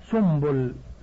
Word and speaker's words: سنبل: ميما كمحى والاصل النحى ومثل سنبل فتلفظ سنبل فابدالها في اللفظ لا في الخط ثاني عشر الميم في